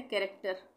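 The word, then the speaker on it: character: यहाँ पे भी ये है कैरेक्टर, कैरेक्टर में भी एच साइलेंट है, कैरेक्टर।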